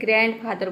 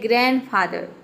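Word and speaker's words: grandfather: इसमें देखिए ग्रैंड नहीं बोलते हैं, ग्रैंडफादर। बहुत सारे स्टूडेंट इसको गलत प्रोनाउंस करते हैं, ग्रैंडफादर बोलते हैं। ग्रैंडफादर नहीं होता है, ये होता है ग्रैंडफादर, मतलब कि दादाजी।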